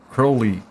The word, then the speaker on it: Crowley: Crow as in the bird. Oh, I thought it was like Okay. Crowley.